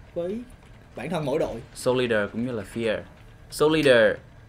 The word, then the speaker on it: Solider: cái từ này đi họ không đọc là Soldier mà đặc là solider cho muốn cho người